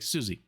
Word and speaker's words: Siouxsie: How do you pronounce this? And she's like, Siouxsie.